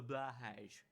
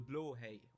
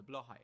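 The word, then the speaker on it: Blåhaj: I wanted the most was the blahage, or as it's actually called, the blowhay or the blahai. Trust me, I'm Danish. I know the bastardist language of Swedish. Pronounce it with me. Blowhay. Blahai. Blowhay if you're speaking Swedish, but why would you speak Swedish?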